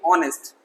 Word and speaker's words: honest: आर, घंटा, honour, सम्मान, इज्जत, ऑनेस्ट, H वाले हैं तो H साइलेंट, ऑनेस्ट। बहुत सारे लोग हॉनेस्ट पढ़ते हैं, नो नो नो नो, हॉनेस्ट नहीं, ऑनेस्ट, ईमानदार।